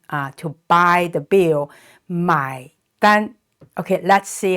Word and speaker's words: 买单: is a n and it's pronounced exactly like the English word an so an the first